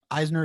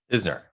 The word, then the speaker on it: Isner: was the one the one match with um eisner isner how do you pronounce his name isner isner is how long did that one last